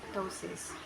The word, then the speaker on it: ptosis: PT, pronunciation T, example ptosis, which means dropping or downward displacement.